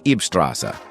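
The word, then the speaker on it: Ybbsstraße: They lived at 40 Eebstrasse, pronounced EEB Strasse, in Amstetten at this time, about 90 miles from where Hitler was born.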